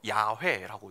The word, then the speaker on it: 야훼: 그래서 우리는 여호와라고 읽지만 당시 사람들은요 야훼라고 읽었습니다.